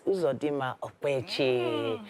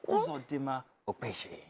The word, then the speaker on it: Uzodimma Okpechi: All right, finally, joining us on the couch is Uzodimma Okpechi. Now, Don't say it like that. It's Uzodimma Okpechi.